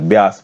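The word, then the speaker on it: Beas: Next, री introduce घड़ियाल thriving इन बीस रिजर्व। ब्यास बोलना चाहिए, ब्यास नदी में बोलूंगा, बीस लिखा हुआ है यहाँ पे।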